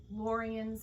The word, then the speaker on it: Lorien: And actually, some of you are having a hard time hearing Lorien's name. It's Lorien that rhymes with DeLorean. Starts with a L.